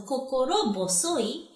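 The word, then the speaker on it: 心細い: But since, it's a compound word, that pronunciation changes. Okay. Ho to bo. So, kokoro bosoi.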